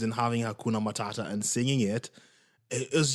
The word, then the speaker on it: Matata: I don't know why it's not mat it's it's Matata he got to bring